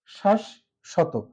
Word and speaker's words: শাশ্বত: তাহলে দেখব শ্বাস শ্বত শ্বাস শত এখানে মাঝে বর্ণের সাথে ব ফলা থাকার কারণে মাঝের যে তালবসটা আছে এটা দুইবার উচ্চারিত হচ্ছে এবং এটার উচ্চারণ আমরা